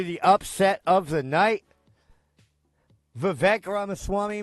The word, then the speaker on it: Vivek: Vivek Ramaswamy, Vivek rhymes with cake.